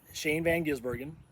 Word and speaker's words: Shane van Gisbergen: the cup series especially um so first off Shane Van ginsbergen that's how you say his name uh watch